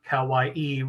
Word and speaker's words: Kawaii: locals now call that kawaii my mother thinks that's just a chamber of commerce thing to have kawaii room um rhyme with hawaii but anyway um sabre